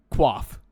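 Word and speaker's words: coif: want to call it qua cuz that's how you pronounce koif by the way it's not K it's qua I really do want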